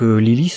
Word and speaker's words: Lilith: On découvre son nom dans cet épisode, donc Lilith, hein, donc ça se prononce à l'anglaise, qui du coup a le kanji Waru, donc le mal.